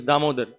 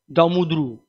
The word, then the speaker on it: Damodar: If somebody has got a name, so let's say his name is Damodar. So I call him Damudru. It's not proper.